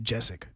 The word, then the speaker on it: Gesicki: I believe it's pronounced Jessic. Yeah. Gesicki.